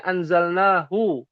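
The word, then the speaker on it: أنزلناه: Ada hu aslinya tuh tulisan begini anzalnahu. Tapi karena ada alif kecil dalam ilmu tajwid ya, jadi dibacanya ditulisnya alif kecil ya. Bacanya panjang. Anzalnahu.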